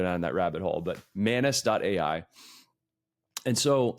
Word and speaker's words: Manus: we are looking at manis.ai and it's spelled mus. So, just like anus, but with an M at the very beginning.